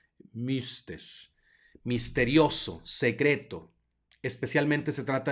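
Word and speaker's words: μύστης: Mística viene del griego mistes mistes se pronuncia un poco extraño como la u francesa mixtes misterioso secreto especialmente se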